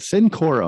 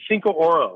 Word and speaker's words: Cinco Oro: reason i've never pronounced is it syncora am i saying that correctly uh it's cinco oro cinco oro okay i